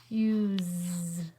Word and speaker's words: use: not a y remember the u says you use because of that silent e that makes the u say u and it makes the s sound like a z use let's go back and